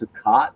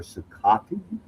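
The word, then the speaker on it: Cicotte: Eddie I believe it's Sakat or Sakati. C I C O T T E.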